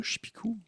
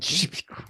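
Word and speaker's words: Czepeku: Chipou. Je peux regarder le trou. Chipou. Ça s'écrit c z e p e k u.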